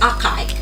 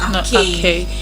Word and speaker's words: archaic: And also the next word is archaic, which I said it is not pronounced as archaic, but archaic.